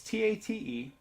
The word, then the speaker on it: tate: learn about is called tape mode or I'm sorry cut a mode is how it's correctly pronounced it's ta te and it turns out